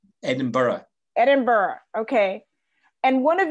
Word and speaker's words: Edinburgh: the size of the netherlands um the capital zendeburg edinburgh right edinburgh edinburgh okay and one of your national symbols